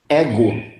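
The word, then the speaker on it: ἐγώ: Como que nós vamos pronunciar isso aqui? Ego.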